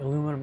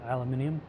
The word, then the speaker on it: aluminium: Aluminum and aluminium. Totally incompatible. I say aluminum in this game for no other reason than that's how it's spelled.